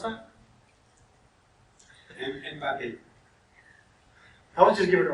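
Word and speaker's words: Mbappé: I'm going to query for How do you pronounce that? Mbappe.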